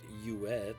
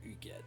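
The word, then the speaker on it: Hughette: know they pronounce it you at but that's a french name and it is pronounced you get the first a well both h's are silent rowland substitutes in battle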